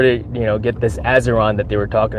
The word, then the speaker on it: Azeron: azeron which it looks like a bionic hand it's spelled a z e r o n azeron Aeron azeron it's uh what country is